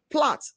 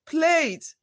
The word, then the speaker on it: plait: The sound symbolizes letters A in words like magazine, calendar, AI in plait, not plate. I want to plait my hair.